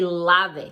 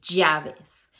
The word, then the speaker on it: llaves: of the correct pronunciation, double L in Spanish is pronunciated with a Y sound like yo. So you say amarillo. That's the correct way to say the double L sound. Keys in English, llaves.